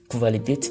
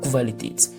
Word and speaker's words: Qualität: Voilà, Qualität, lorsque le Q et le U se suivent, ça se prononce Kv. Ce n'est pas Q, mais c'est Kv. Qualität.